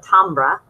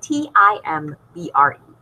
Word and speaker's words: timbre: uh people call it tonbra uh timbre would be spelled t-a-m-b-e-r but it's not spelled that way it's spelled t-i-m-b-r-e but the pronunciation is